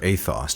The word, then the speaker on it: ethos: And the Odyssey is about ethos, or athos, to use the Greek pronunciation.